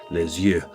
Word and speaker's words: Les Yeux: That's spelled L-E-S, then E-U-S, Les Yeux.